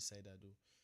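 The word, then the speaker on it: CIDR: The fundamental trait of cider cider pronounced we call it cider is the ability to combine multiple smaller blocks that share common prefix into a single larger address allocation.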